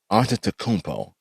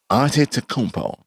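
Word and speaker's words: Antetokounmpo: name no i gotta say his last name auntie takumpo aunty takumpo okay so the problem really isn't giannis the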